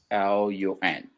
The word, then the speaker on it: Siollun: I'll write it down for those who want to know how to pronounce this. Seeholuun. So. Now Siollun now, like swallow.